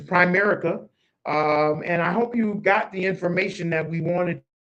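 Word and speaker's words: Primerica: I've been saying it wrong. I've been calling it Prime America, but it's Prime America.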